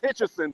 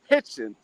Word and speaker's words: Hitchens: You would think it's Hitchison, but it's Richardson Hitchens.